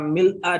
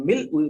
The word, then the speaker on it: mil'a: Sahih Muslim itu antara mil'a dengan mil'u itu yang paling masyhur adalah mil'a. Ya, dan memang lebih kuat secara bahasa itu kalau pada bahasa pribadi mil'a. Karena itulah yang saya praktekkan sudah sejak lama, bacanya mil'as samawati wa mil'al ardi. Tapi tidak usah menyalahkan yang mil'u karena memang itu yang banyak diajarkan di negeri kita, ya. Itu katakanlah dua-duanya benar.